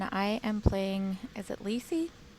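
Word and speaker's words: Lysi: am playing as it lacy how would you like to pronounce her that's how i would pronounce it l-y-s-i so cool um she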